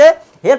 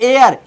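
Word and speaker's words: heir: कुछ लोग बच्चे हेयर पढ़ सकते हैं। लेकिन यहां पढ़ता है एयर एच ई आई आर एयर माने उत्तराधिकारी। मतलब इस वाक्यों में इनमें जो है शब्दों में एच क्या है? साइलेंट है। एच इसमें बोली नहीं जाएगी।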